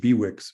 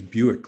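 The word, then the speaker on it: Bewick: I always called it bwick but that I was corrected down there it's called pronunciation is Buick like the car and I guess that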